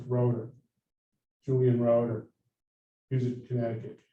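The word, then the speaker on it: Rotter: the local control stuff his name is spelled r-o-t-t-e-r but it's pronounced rotor julian road or music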